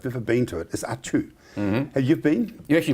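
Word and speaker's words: Atiu: me, and I've never been to it, is Atu. Have you been? You actually pronounce that very well. A lot of people can't. It's spelled A-T-I-U, and it is pronounced Atu.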